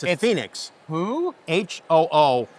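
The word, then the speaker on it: 鳳凰: Seriously, it's Hu, which is a symbol of the Imperial House of Japan. It's a phoenix. Who? H-O-O, long O in each case.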